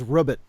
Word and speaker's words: robot: and my favorite is their official pronunciation for robot is rubbit I've heard a little bit Yeah like like robot robot the guy who